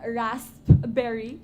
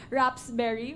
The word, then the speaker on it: raspberry: me lol is that i mispronounce the word rasp berry which is supposedly a wrap i mispronounced it rather raps berry which is supposed to be raspberry so um from that